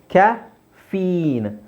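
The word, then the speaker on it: caffeine: ಅಲ್ಲ ಅಡ್ರನಲಿನ್ ಲಿನ್ ಇಲ್ಲಿಏನಿದು ಕ್ಯಾಫೀನ್ ಕ್ಯಾಫೀನ್ ಅಲ್ಲ ಕ್ಯಾಫೀನ್ ಇಲ್ಲಿ ದೀರ್ಘ ಇದೆ ಈಕಾರ ಕ್ಯಾಫೀನ್ ಕ್ಯಾಫೀನ್ ಅಡ್ರನಲಿನ್ ಅಡ್ರನಲಿನ್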